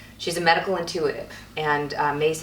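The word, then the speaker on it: Myss: She's a medical intuitive, and Mace is spelled M-Y-S-S.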